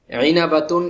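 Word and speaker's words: عِنَبَة: আইনাবাতুন একটি আঙ্গুর, আইনাবাতুন, আইনকে আইনের মতোই বলতে হবে।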